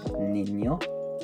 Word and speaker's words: niño: this letter is that it's not pronounced like N, it's pronounced like ni. For example, if we use this for the Spanish word boy, niño, you don't say that word N-E-N-E-U, you just have an N with a line over.